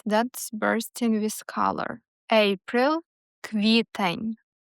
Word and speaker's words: квітень: April, квітень. Квітень.